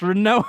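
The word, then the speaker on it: Rinoa: you pronounce her name renoa I always said renoa me too renoa it's renoa on this podcast yeah thank God you said that too I was I was expecting you to be a renoa we've already talked about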